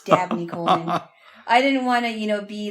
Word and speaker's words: Dabney Coleman: I thought you pronounced an actor's name, or this actor's name, Daphne Coleman. It turns out it's Dabney Coleman.